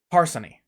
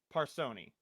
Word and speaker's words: Parsony: Parsony. Parsoni. Parsony, either one is okay.